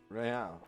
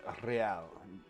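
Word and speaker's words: réal: What's Real? Oh, excuse me. You owe me 130 real. Pronounce the R with a mock aristocratic accent.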